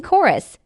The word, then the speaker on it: chorus: Words of Greek origin that feature a CH are typically pronounced with a hard K sound, like in chorus, chemistry, and KS.